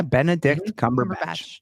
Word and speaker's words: Benedict Cumberbatch: Yeah, Benedict Cumberbatch. Did I say his name right? Yeah, Benedict Cumberbatch.